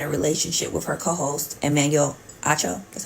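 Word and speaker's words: Emmanuel Acho: that Joy had a relationship with her co-host Emanuel AO that's how you say his name and that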